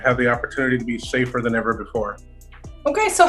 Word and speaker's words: Safe4r: the letter r so it's pronounced safer but it's s-a-f-e the